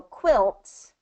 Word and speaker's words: quilt: want it short I so I want it to be qu qu qu same as like quick quick quick quick it has the same short eye so quilt is going to be qu qu qu quilt quilt yeah quilt quilt so you have to just really concentrate on getting that short I I quick Qui quit